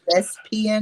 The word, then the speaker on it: thespian: It's actually a P and not a B in there. So you said thespian. Okay. It's actually thespian.